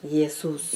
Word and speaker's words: Jesus: Yesus. Yeah. You don't treat it as Jesus. Yes. No. That is because of the the country. You know these countries they pronounce things differently.